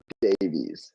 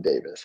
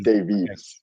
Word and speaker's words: Davies: know sorry is Alonso what sorry it's Alonso Davies not Davis and I get it that's how you say that's how you guys say it but it's Davies DAV okay yeah so it's weird a Canadian